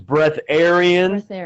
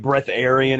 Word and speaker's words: breatharian: there are a couple there's different pronunciations breath Aryan some people say breath atarian which I don't really like I like breatharian if we're going to use that word yeah so this is